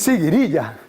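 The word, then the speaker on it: siguiriya: borrachera embriaguez en árabe se dice siqu iría se dice cirilla es cirilla Es una de las palabras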